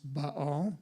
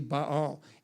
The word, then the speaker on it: Baal: gods from other countries and this was primarily ba it's actually pronounced Baal but if I said Baal no one would know what I was talking about so but it's actually ba all and Ashira or sometimes called ashth now Ashira